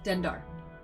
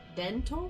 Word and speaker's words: Dendar: Dendar. I'm sorry. Dedar. Hold That's up. this Wait a Dendar. minute. Dendar. Dendo. Dental?